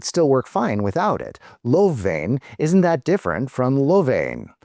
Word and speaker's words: lovveen: Lovveen is the word in dialect. In traditional Finnish, it would be pronounced loveen.